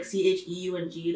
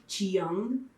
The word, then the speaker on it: Cheung: But then my last name, like, when people see it on paper, like Cheung, they're like Chiyoung sometimes. Like, I got that out in school. But, like, the E is silent.